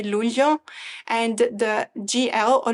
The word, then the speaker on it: luglio: who's not Italian, because my husband can never pronounce the GL in the Italian way together. So the month of July, we say luglio, and the GL or luglio, it just cannot say.